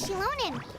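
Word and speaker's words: Xilonen: Oh, it's time to meet up with Shilonen. Let's ask her how things have been going. Shilonen. Oh no. I can't. That's terrible. I shouldn't have problems speaking. Ooh. Hey, Shilonen, how's everything Shilonen.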